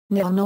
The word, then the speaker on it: Nihon: There are therefore 2 possible pronunciations for E, Zeta A, Nihon or Nippon. While both pronunciations are correct, Nippon is frequently preferred